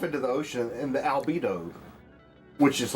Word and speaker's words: albedo: The albedo of the earth increases, which is like kind of rhymes with libido, which is like, you know, what you need to like make a bunch of commotion.